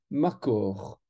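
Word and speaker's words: מקור: intéressant la source en hébreu se dit marcor ma corps qui s'écrit soit de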